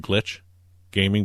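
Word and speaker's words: Glitxh Gaming: And the 4th team, and it's pronounced Glitch Gaming, but it's got an X in it.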